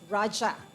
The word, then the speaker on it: Raja: is spelled differently and pronounced Raja because it is Indian Sanskrit in origin meaning Sovereign king or